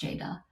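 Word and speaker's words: Ceyda: so her name is Jada which is a Turkish name but it's in Turkish C the letter c is pronounced like the letter Jade so it's spelled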